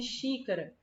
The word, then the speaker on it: xícara: a antepenúltima sílaba né olha o caso de xícara como é que a gente fala essa palavra a gente fala xícara a xícara ou xícara tá vendo Olha como a gente pronuncia as outras sílabas mais rápido né E essas sílabas chique a antepenúltima a gente puxa mais tá vendo olha olha o